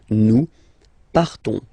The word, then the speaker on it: partons: So classic ending ONS, you don't pronounce the S, you just have this on sound nasal. Nous partons.